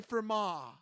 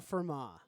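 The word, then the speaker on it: Fermat: how do you spell Firma uh f-e-r-m-a-t okay okay the t is silent okay I looked it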